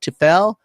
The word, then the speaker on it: TEFL: And I believe the acronym is pronounced TEFL.